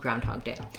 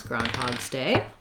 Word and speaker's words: Groundhog's Day: the effect today called groundhog day um so how to pronounce groundhog's day um i think you can say groundhog day or groundhog's day i would probably include the um possessive groundhogs day so the first vowel